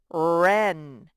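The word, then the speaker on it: wren: spells er like in right and ren ren is a little bird and wright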